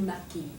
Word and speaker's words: maquille: Je me maquille. Right, don't pronounce the A at the end.